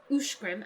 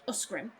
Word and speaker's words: Uskrim: Uskrim is pronounced ushgrim and not uskrim.